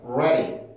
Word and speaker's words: ready: 우리가 많이 보지 않았었는데 여기서 D 발음은 플랩이 되는 위치에 있죠. 그래서 모음 사이에 껴있고 강세를 갖고 있기는 하지만 D발음이 음절의 시작이 아니라 끝이에요. 그러니까 이거는 별로 관련이 없어. 그래서 모음과 모음 사이 그리고 강세를 갖고 있지도 않으니까 플랩이 가능합니다.